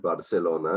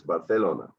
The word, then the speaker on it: Barcelona: in in spain so the c sound is very often pronounced like a th i mean the classic is it's not barcelona it's barcelona yeah right so it depends